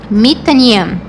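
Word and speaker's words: מתעניין: Então, por isso que na pronúncia fica mi, não me, como nos outros casos que a gente viu de verbo. Então, aqui vai ficar mi, mitaniem, mitaniem. Então, para as três pessoas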